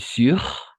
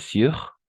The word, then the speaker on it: surent: ENT, on ne le prononce jamais.